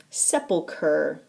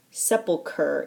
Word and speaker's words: sepulcher: one from annabel lee sepulcher sepulcher it's pronounced like there's a k where the ch is this is another one